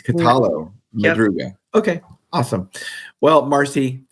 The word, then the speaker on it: Catallo-Madruga: You were close. It's Catallo-Madruga. Catallo. Yep. So it's not yo. It's not like in Spanish, the LL would be yo. It's Catallo-Madruga.